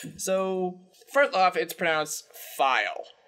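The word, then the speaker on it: Phial: first off it sprouts file like f I am file also my throat is suddenly swear so um first off it's pronounced file I just looked it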